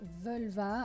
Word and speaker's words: völva: recherches déjà ça pour ça devrait se prononcer veulent va avec un os est un peu affaibli mais bon je vais dire à la française un vol va ce sera plus confortable et de même au